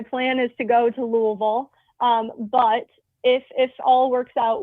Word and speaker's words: Louisville: I will be, tentatively, my plan is to go to Louisville.